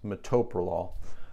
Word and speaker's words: metoprolol: It is pronounced metoprolol.